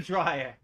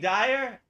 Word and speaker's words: Dyer: Wayne Dyer. Wayne Dyer. Yeah. Wayne Dyer. Yeah. Or is it Wayne Dryer? It's the earlier, not Dryer, Dyer.